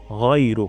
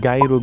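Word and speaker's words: غيرك: এখানে ভুল থাকতে পারে আমরা গাইরুগ বলবো না এখানে অনেকে গাইরোগ বলে আপনারা চেক করবেন যে আপনি গাইরুগ বলছেন কিনা গাই হবে না হবে গাই থেকে ইলাহা গাইরুক আমি সম্পূর্ণটা একবার পড়ছি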